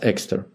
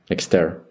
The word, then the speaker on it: Exter: Her husband's surname was Exter. But when she moved to France, it was changed to a French manner, Exter.